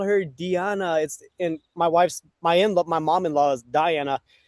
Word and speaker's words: Diana: And Deanna, I'm sorry. I think I've been pronouncing your name incorrectly. So. It's okay. No, Diana.